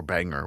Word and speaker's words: Bangor: flight, they fly into Bangor, and then Bangor is like what, or Banger, whatever. I don't know how to say it. Banger. it's banger. Banger.